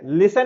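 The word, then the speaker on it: listen: उदाहरण के तौर पर फिनोमिना में पी साइलेंट है, ऑनेस्ट में एच साइलेंट है, लिसन में टी साइलेंट है, साइकोलॉजी में पी साइलेंट है, वॉक में एल साइलेंट है, नाइफ में के साइलेंट है।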